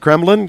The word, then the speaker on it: Kreblin: one of the attorneys and partners at Chad Kremlin Chad did I pronounce that right you did good well walking